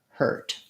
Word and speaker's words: hurt: your h er her hurt so it might help to think about it like the word her plus a t hurt then you also asked